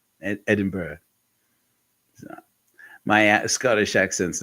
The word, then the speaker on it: Edinburgh: learning new things I do know that it's pronounced Edinburg Edinburgh my Scottish accent's not that good I would